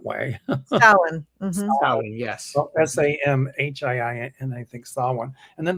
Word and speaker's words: Samhain: But I know Salwin, I think I'm pronouncing it right. It's not spelled that way. Samhain. Samhain, yes. Well, Samhiin, I think Samhain.